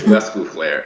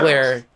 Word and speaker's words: Lescouflair: It's Lescouflair. It's Lescouflair. The S is pronounced. Lescouflair. Yeah. Dude, it's just like Ric Flair.